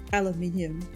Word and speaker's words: aluminium: Aluminium. Or as the Americans say, because apparently they don't believe in all the syllables, aluminum. Oh my goodness.